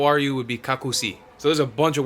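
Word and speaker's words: како си: say Stovall and how are you would be kaku see so there's a bunch of words for you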